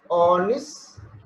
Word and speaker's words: honest: On, e, oni, okay, honest, honest, okay, honest, honest. What's the word then? This is, we'll say harnest or honest, we'll say, right? Honest. H is silent, okay, and it is not nest.